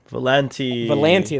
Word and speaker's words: Volanti: But the one that like you were really into was the Volanti. That's how you say it.